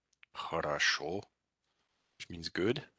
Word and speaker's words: хорошо: So this word, хорошо, is pronounced хорошо. So this O is pronounced as an A.